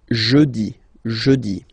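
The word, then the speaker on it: jeudi: okay next onei remember when you combine this you get the soundi so I insist a little bit so make it softer jii then a n nazal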